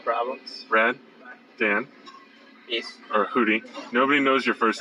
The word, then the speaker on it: Hudy: or Hudy. Nobody knows your first name. People are asking me, like, why is he named Hudy? I'm like, it's his last name. Yeah. Not Huddy. Hudy.